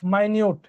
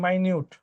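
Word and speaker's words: minute: আর যদি এটা ক্ষুদ্র অর্থে ব্যবহার করা হয় তাহলে উচ্চারণ হচ্ছে মাইনিউট, মাইনিউট মেরিন শেলস।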